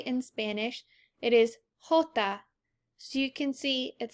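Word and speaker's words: jota: next one is that j sounds like the english letter h so if we pronounce j in spanish it is hota so you can see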